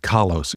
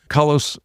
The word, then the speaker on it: Kalos: So let's talk about the name of the group Kalos.